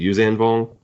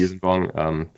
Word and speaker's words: Yuuzhan Vong: How do you pronounce it? Yuuzhan Vong? Yeah, I think so. The Yuuzhan Vong.